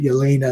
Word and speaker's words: Yelena: I'm a Croatian guy, so we say Yelena if that was the name, but Yolena is how they say it here.